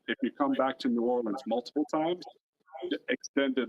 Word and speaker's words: New Orleans: But it's always New Orleans. You're never going to actually hear somebody say, if you're pretty much pronouncing it Nolans, you're mispronouncing it.